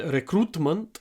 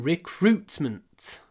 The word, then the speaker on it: recruitment: I work in recruitment. Here we have two clipped vowels. Ut, unt. Recruitment. Recruitment.